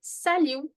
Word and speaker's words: salut: If I want to say an informal hello, this one it is going to be sal in which t is going to be silent. So it is going to be sal the pronunciio remember sal